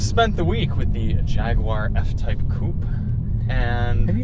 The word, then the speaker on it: Jaguar: you say it but the British say jaguar so it's like I've just been trying to Jaguar you're the j-a yeah Jag is the first syllable in the UA you Jaguar you want Jaguar okay but you're saying